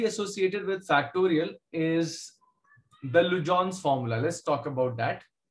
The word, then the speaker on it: Legendre: So it is pronounced as Lujon. Okay. Lujon's formula.